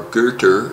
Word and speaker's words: Goethe: named Johann Wolfgang von Goethe or girder as people who know how to pronounce things properly might say he was 60 when